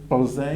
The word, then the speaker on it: Plzeň: name for Plzeň. In Czech, it's actually Plzeň.